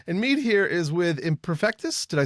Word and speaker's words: Imperfektus: And Meade here is with Imperfektus.